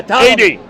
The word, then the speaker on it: Ptolemy: Yeah, Ptolemy. AD. The P is silent.